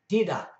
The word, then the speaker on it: tidak: A word that ends in the letter K is fairly soft, like the German ich for I. An example of that would be tidak, for no, tidak. It's almost not pronounced, but it does influence the last sound, dida.